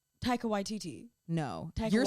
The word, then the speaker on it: Taika Waititi: I think I said Taika Waititi. It's Taika Waititi. YTT. That's what I said. No. The emphasis is on Y. Taika Waititi.